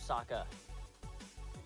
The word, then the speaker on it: Sokka: My name's Sokka. Rhymes with Aka and Waka Waka.